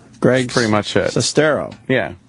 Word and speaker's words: Sestero: You almost said it Sestero. right with the accents in the wrong spots. Greg, pretty much it. Sestero.